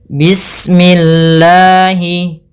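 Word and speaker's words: بسم الله: Di sini ada huruf sin yang kita sempurnakan dulu sifatnya. Bis kemudian bismi. Mnya tipis kasrah. Jangan dibaca dengan memantul. Misalkan sinnya bismillah ini memantul harusnya menyempurnakan sinnya baru langsung saja.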